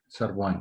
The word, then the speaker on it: सर्वान्: देव oh sorry He Deva Raksha Sarve सर्वान् Sarvan okay सर्वान् thank you अस्तु इदानीं अग्रे गच्छामः